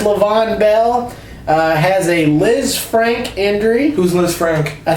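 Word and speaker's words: Lisfranc: it yes it's but it's spelled l i s f r a n c oh okay but it's still they say Liz Frank Liz Frank he will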